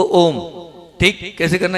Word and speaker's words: ओम: प्राण मुद्रा का कितना है, ओ को 50% और माँ को 50% उच्चारण करना है हमें, ठीक।